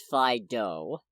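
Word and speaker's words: Fidough: in my life and its name is spelled f-i-d-o-u-g-h so it's fido so i don't know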